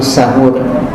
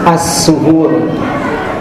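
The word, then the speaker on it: السحور: Di antara amalan sunah yang terkait dengan ibadah puasa yaitu makan di waktu sahur. Asahur bisa cara bacanya dengan difatahkan sinnya yaitu sahur atau asahur bisa didomahkan sinnya assuhur.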